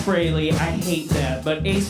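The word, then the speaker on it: Frehley: It's pronounced Brayley. I hate that, but Ace Freely.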